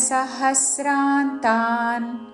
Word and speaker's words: సహస్రాంతాం: మీద ఆఘాత సహస్రాంతాన్ అనుస్వారము త వర్గంలోని అనునాసిక ఉచ్చారణ రాత్రి యుగ సహస్రాంతాన్ తేహో రెండు దీర్ఘములు తేహో